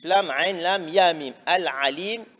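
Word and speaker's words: العليم: Al-Alim, qu'il faut bien prononcer, le Ain, faire la différence entre le Ain et le Hamza, le Alif.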